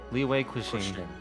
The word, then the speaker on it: Liyue: right first of all how do you say that quotations is that question I don't know quiching away leeway leeway yes cushion bed Cushing um